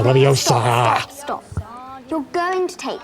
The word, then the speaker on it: Leviosa: As Hermione says, it's Leviosa, not Leviosa. Or how's it said, Hermione? Leviosa, Leviosa.